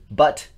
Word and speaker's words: Butt: It's Butt. It's literally pronounced Butt.